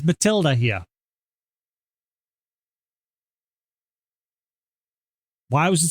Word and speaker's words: Mathilde: Apparently it still is pronounced Matilda, even though that spelling doesn't sound like that. That's Mathilde. But no, it's apparently still Matilda.